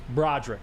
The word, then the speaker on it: Broderick: we talked about Sam the Porta uh uh Broderick Martin is how you pronounce his name yes Broderick Broderick I'm a saint Broderick I've been getting roasted